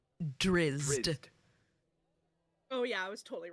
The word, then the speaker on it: Drizzt: Drizzt. Oh yeah, I was totally wrong. Drizzt. Oh, so you pronounce the Z. Drizzt. Like you put the Riz in Drizzt.